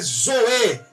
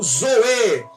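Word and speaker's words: ζωή: é a vida que em grego koinê é pronunciada como vida Celestial vida em grego koiné Zoe e não BIOS de biologia de bi Olimpíadas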